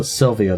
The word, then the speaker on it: Sylvea: I pronounced it Sylvea this time because that's the way the elf pronounced it in the cutscene.